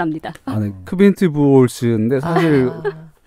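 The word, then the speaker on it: Quint Buchholz: 아, 작가님이 발음하실 줄 압니다. 아니 크빈트 부올스인데 사실 그 뭐라고요?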